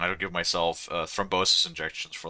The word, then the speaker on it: thrombosis: Is Is thrombosis the right word or is that called something else? Because it's it's that in German. Have I been saying it wrong the entire time? Hold on. What? Thrombosis? Yeah. No, that's how you say it.